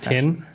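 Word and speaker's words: Tyn: It's tin. T Y N.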